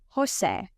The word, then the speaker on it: José: The Spanish J sounds like a strong H in English, like in the word hot. So, Jose is pronounced Jose.